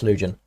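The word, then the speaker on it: Lütjens: I believe it was, I might be pronouncing that wrong. Yeah, it's Lugen, yeah.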